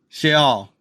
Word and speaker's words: Sheol: So, so yeah, Sheol. Sheol. That's the way they say it in Hebrew.